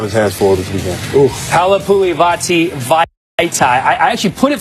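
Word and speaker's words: Halapoulivaati Vaitai: Halapuli Vitae. I actually put it phonetically in the prompter. Dwayne, you want to give it a shot right there? Halapuli Vitae.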